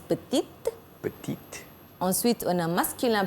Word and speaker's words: petite: Pour féminin singulier, on ajoute E. Donc, ça se prononce petite.